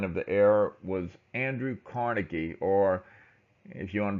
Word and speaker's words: Carnegie: the era was Andrew Carnegie or if you want to be more accurate in the Scottish pronunciation of his name it's carnegi but usually everybody says Carnegie so I'm going to